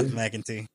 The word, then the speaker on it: McEntee: Is that how you pronounce it? Yeah, McEntee.